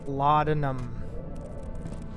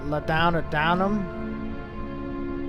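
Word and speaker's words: laudanum: everywhere L downum Lum it's called linum so if you heard someone else pronounce it l downam that's not right it just ain't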